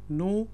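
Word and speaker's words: know: मोर अब याद रखें यहां पे जो के है वह साइलेंट है इसलिए मैं कह रहा हूं यू नो मोर कनोनी इसको पढ़ना आपने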